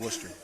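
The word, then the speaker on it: Wooster: that's how you say it, the College of Worcester. That is correct. To play football and get a great education there as well. And what when did you choose College of Worcester for playing?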